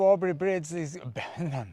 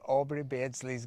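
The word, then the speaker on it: Aubrey Beardsley: died at mountain so we made it to aubrey bridges so we made it to aubrey bridge how do you say it basically so we made it to aubry beardsley's grave that is the end of our first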